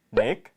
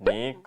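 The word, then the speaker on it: нэг: 넥, 허열, 고롭, 두룹, 타옵. 네, 1부터 5까지 발음을 닉, 허열, 고롭, 두룹, 타옵 이렇게 얘기를 합니다.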